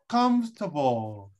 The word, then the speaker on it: comfortable: but preferable but preferable comfortable and it's like this comfortable comfortable it's not comfortable it's comfortable we we don't sound for example we don't sound oh f is comfortable comfortable exactly comfortable and